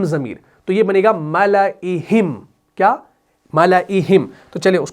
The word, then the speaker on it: مَلَئِهِمْ: 8واں ہے وہ ہے ملئہم، ٹھیک ہے، اس الف کو نہیں پڑھنا، یعنی یہ پڑھا جائے گا ایسے، ملئہم، میں نے الف کو ہٹا دیا تلفظ کے اعتبار سے۔ اور یہ آپ کو ملے